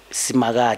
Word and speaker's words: Simakade: Simakade.